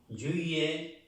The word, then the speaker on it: juillet: La T no se pronuncia.